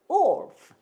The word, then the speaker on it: wolf: wolf. 다시 한번요. wolf. 예, 까다롭죠.